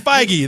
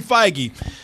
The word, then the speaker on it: Feige: say this guy's Kevin Fage Kevin feige okay you pronouncing like it was yogurt yeah yeah Fage Kevin